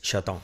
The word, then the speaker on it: Chataing: Cómo se pronuncia y la pronunciación correcta es shoton número C de